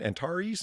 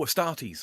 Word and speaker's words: Astartes: Antares and Antes, the fan-made awesomeness. Oh, Astartes.